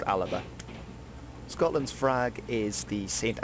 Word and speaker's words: Alba: gaelic which was the language they spoke is alaba now i'm gonna apologize because i pronounced mispronounced this in the previous video but